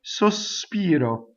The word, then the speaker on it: sospiro: When I speak, I can say sospiro. Notice how I hiss the S. Sospiro, right? When I sing, if I have three notes, this 3-syllable word, if I have 3 notes for this word, the first note cannot have any S on it.